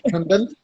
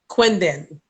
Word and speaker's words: Kundan: My name is Kundan. It's Wait a Kundan. minute. Say it again. Kundan. Quindin. No, Okay. Kundan. Kundan. It's not a Q, it's a K. K-U-N-D-A-N. Kundan. Kundan.